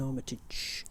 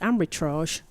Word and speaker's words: Armitage: Captain Armitage. Sometimes pronounced as ambitrage.